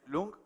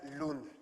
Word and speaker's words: Lund: Si me acompaña, por favor, el actor Lung, o Lunch, o no sé cómo es. Ahora me dirás tu apellido cómo es. Se pronuncia Lund.